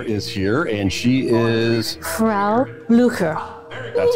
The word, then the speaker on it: Frau Blücher: Frau Blücher. That's how you pronounce it.